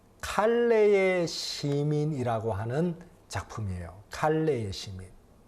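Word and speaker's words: Calais: 칼레의 시민이라고 하는 작품이에요 칼레의 시민 자 이게 무슨 작품이냐 men 제가 설명을 좀 드릴게요 프랑스에 보면은 칼레 어 깔레 칼레라 보통 이제 발음을 하는데요 칼레라 하는 도시가 있어요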